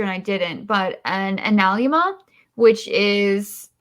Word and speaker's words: analemma: However, it does ignore that, I was going to grab a picture and I didn't, but an analemma, which is it's spelled like anal Emma, but it's analemma.